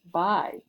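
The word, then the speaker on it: 白: here, it is the color white and it's pronounced bai.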